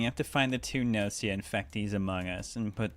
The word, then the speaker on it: Gnosia: Everything about English says to me it's Nosia because nosis in similar words, right? The GN start. However, the actual katakana is very clearly ganosia.